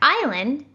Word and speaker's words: island: beginning and guess what the s is usually not pronounced when it happens right before the l that's why island is a word with a silent s let's try to guess